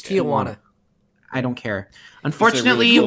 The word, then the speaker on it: Tijuana: It's Tijuana. I don't care. Unfortunately, you get on my case about pronunciations.